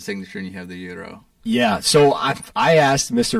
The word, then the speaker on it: gyro: I had what I call as a gyro, but I was corrected. And how do you pronounce that word, I should say? Gyro. Gyro. Gyro. It's like an E.